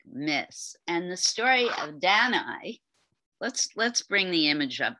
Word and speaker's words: Danae: And the story of Danae, let's bring the image up first, and then I'll talk about the myth.